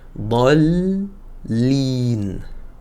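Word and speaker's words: الضالين: C'est 6 temps car j'ai un lem avec une shaedda qui vient juste après. Donc ici on va faire d'accord ici mon lem. J'oublie pas aussi de faire la shaedda. D'accord. Donc je dois entendre deux lemes, on va dire dol line.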